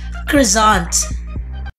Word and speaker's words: croissant: So the correct pronunciation should be croissant.